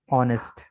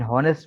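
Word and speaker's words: honest: An hour, an ऑनेस्ट मैन, एन ऑनेस्ट मैन, ठीक है, एन हॉनेस्ट मैन नहीं होता, ठीक है।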